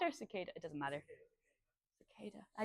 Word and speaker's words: Cicada: I've forgotten it again it's Sada um like the bug and um they're both very well known groups is it sakada or cicada it doesn't matter cada